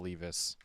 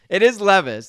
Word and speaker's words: Levis: 2 34 and a half yards for will Lis okay I love I love that you're changing the pronunciation of his name just is it is Levis it is Levis but I I I I